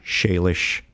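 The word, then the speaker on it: Shailesh: Shayish. Spell it for you.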